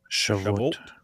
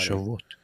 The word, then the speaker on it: Shavuot: Shavuot. Don't lie. Shavuot.